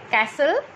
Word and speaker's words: castle: Now, in every of these words, the letter T is silent, like castle, depot, listen, often.